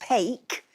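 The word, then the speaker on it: paik: P A I K, pronounced pake, is a Scots and Northern England term for to thump or whack something.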